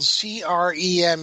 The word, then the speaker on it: Creme: last name is spelled CR eme it looks like cream but it's creme he was from London